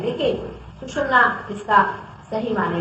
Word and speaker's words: सुषुम्ना: कोई सुषुम्ना कहते हैं, कोई सुषुम्ना कहते हैं, तरह तरह के इसके प्रोनाउंसिएशन है, लेकिन सुषुम्ना इसका सही माने में प्रोनाउंसिएशन है, जो कि आप मंत्र में भी उच्चारण कर सकते हैं।